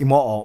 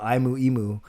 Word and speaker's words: Imo: Imo is actually pronounced Imo, but I don't say that. I get a lot of Imu because that's the way it's spelled.